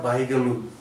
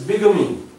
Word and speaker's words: bigamy: and that is also commonly mispronounced like bigamy। This is not bigamy, bigamy, this is bigamy, bigamy।